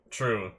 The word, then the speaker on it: Trieu: ah on his hat true that's how you spell it not like not like truth true it's t r i e u NOP beond mother is